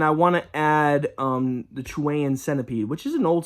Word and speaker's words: Chilean: called Chilean Centipede, which I learned Chilean isn't the right way to say, it's Chilean.